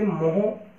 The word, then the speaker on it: mho: बेटा, या इसे MHO, उल्टी स्पेलिंग लिख दीजिए, ओम की OHM होता है, तो इसे मोह MHO यह कहा जाता है।